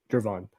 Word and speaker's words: Gervon: So Gervin Dexter, or, you know, Gervon Dexter, I gotta say his name right, not Gervin, Gervon.